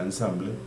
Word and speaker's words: ensemble: Random Forest Classifier, aquí nos lleva a la documentación, es el módulo ensemble, entonces se escribe es ensemble, se pronuncia ensamble, y ya corregida la